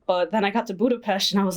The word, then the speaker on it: Budapest: other thing people say Budapest its Budapest I learned that for something apparently s's are pronounced like Shh but like the Danube